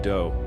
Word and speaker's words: Do: Applewhite, but his friends called him Doe, which rhymes with Joe.